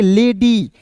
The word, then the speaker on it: lady: लेडी, यानी कि अंतिम में वाई आया, इसका उच्चारण ई के रूप में कर रहे हैं।